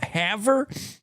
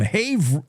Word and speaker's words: Havre: Uh Havre?